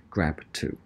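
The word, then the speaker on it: GRB2: and is protein called what I call it grb-2 but I'm told it's pronounced grab - okay so when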